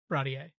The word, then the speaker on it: Baratie: Baratier. Barati. Barate is the... Barati is how they pronounce it in the 4Kids.